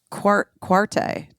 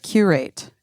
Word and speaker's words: curate: Quarte is how I was thinking it was pronounced.